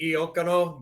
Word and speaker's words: Iacono: we kind of Americanized it. Like if you were in Italy, it'd be Iacono, but Americans can't Gotcha. really pronounce that.